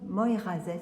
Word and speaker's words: Moyrazès: Ça doit résonner un peu parce que je suis dans l'église de Moirazès. Il faut le prononcer comme ça.